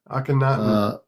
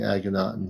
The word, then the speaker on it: Akhenaten: How do you pronounce that? Akhenaten.